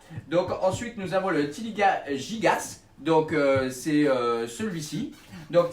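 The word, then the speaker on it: Tiliqua: Donc ça s'écrit avec Q-U-A, mais ça se prononce Tiliqa.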